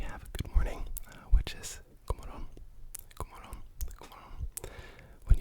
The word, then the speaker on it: god morgon: But in Swedish, for example, it's spelled god morgon, but we just say god morgon. You see how that G, the G sound, morgon, morgon, disappears.